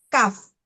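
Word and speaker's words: كاف: sesuai hurufnya asli Pak bukan Ka tapi Kaf ya Kaf kemudian ha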